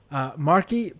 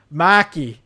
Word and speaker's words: Markey: Marky, pretty sure it's pronounced Maki.